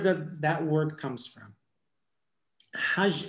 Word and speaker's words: Hajj: Hajj is written Het Gimal, right? But they pronounce the G as J.